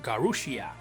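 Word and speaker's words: ガルシア: Garcia's final Japanese name is pronounced Garushia, quite close to Garcia, but in earlier builds of the game his name was actually Boruba, which would probably be localized as Reblev.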